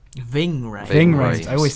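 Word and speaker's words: Ving Rhames: Vic Rames. Ving Ray. Ving Ving Rames. Rhames. I always say his name wrong, but I love him anyway.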